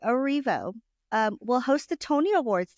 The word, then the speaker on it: Erivo: Well, moving on, Cynthia Erivo, I need to say her name correctly, Erivo, will host the Tony Awards this June.